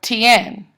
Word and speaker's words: Tien: And a lot of names are actually iambs, like Jose or Tien or Ivan. The stress is on the second syllable.